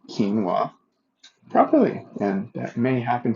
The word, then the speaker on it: quinoa: and he says well, that's actually pronounced quinoa. And I'm like, oh, thank you. I don't want to walk around too long, calling it quinoa, an absolute 100% mispronunciation when apparently it's called quinoa.